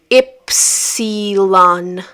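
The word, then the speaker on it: ípsilon: Epsilon, which in Portuguese is pronounced as ipsilon.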